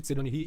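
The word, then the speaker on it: Tserriednich: nome desse cara, mas considerando que é um nome que ele foi feito para ter uma pronúncia alemã seria algo como ter redich, mas todo mundo chama de ter ri e é mais fácil, então v chamar ele assim.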